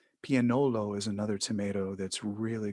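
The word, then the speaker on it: Piennolo: A lot of which I still can't pronounce. Pianolo is another tomato that's really good. That's very popular in Naples. Oh, Piagnolo? Pianolo, yeah.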